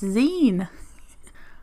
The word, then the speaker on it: zine: my pleasure to let you know about it's pronounced zine wow this is one of those things that